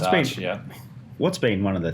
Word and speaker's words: Arch: You've gotten to ride Britain, RC30s, Keanu Reeves Arch. I'm going to say Arch or Arc. I'm going to say it wrong either way. No, it's Arch, What's been one of the things that just stands out?